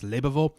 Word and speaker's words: Lebewohl: I will pronounce it Lebeville. I would not say le du because it starts with the words above the score. Le, ba, vo. Is it leba or liba? Wait. It's liba. Is that what I'm saying wrong?